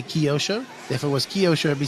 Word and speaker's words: Kyosho: FR of B man it is pronounced kosho maybe for you guys but in my language English KY says Kai so kyos show I think it doesn't really matter I've called it Kyosho my entire life everybody I grew up